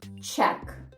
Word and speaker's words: check: знадобиться в щоденному житті чек чек те саме значення чек який ви отримуєте в магазині чек бачимо зупинилися на літери Q сказали к далі все Сайлент мовчимо нічого не читаємо Check наступне слово crytick